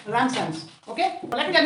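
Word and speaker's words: Ramsden's: So to keep silent, we pronounce it Ramson's.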